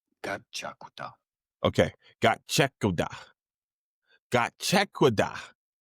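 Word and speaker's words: Gachiakuta: So it's pronounced as one word, gachakuta, gachakuta.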